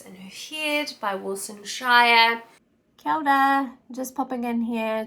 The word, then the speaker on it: Shire: who heared by Wilson Shire counter just popping in here to make a correction I don't have my two Wilson for mispronouncing her last name as Wilson shida and namahi to Ben